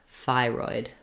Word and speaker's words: thyroid: way it's spelled but know that the thigh is long and the roid is shorter thyroid that's because it has first syllable stress the second syllable then is a little bit shorter because it's unstressed we